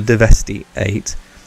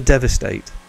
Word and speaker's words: Deveste Eight: defest 8 or the divesty eight it's the devastate and it's one of